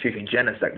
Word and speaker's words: Genesect: And, I've got Genesect, I've got, Genesect is how it's pronounced, and then, pretty standard team, I guess.